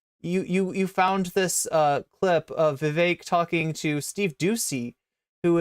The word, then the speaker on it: Vivek: I often open up, I say, my name's Vivek, it rhymes with cake.